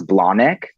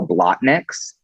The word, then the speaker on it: Blahnik: that I could not I did not know how to pronounce Blahnik and so I kept calling it I kept calling the Manolo blot mix and there was like